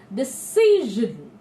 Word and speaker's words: decision: Decision. The j sound, bring the j sound there. It's a French derivative word, or in fact we borrowed this word from the French language.